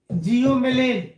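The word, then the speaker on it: psilomelane: दूसरे का नाम है जियोमेलेन, पी साइलेंट होता है।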